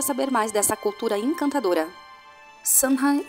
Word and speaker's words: Samhain: Samhain é pronunciada como Sar-win ou Sar-wen.